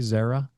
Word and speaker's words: Xaira: Management forite labs and Zera Therapeutics am I pronouncing that correctly by the way Zara yes yes yes okay correct um I want